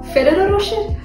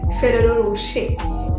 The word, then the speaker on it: Ferrero Rocher: So, since we're talking about chocolates, let's see how this chocolate is pronounced. Ferrero Rocher? No, it's actually Ferrero Rocher.